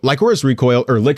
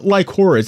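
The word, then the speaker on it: Lycoris: people online being like, it's pronounced licorice. It's not licorice. It's not like the candy.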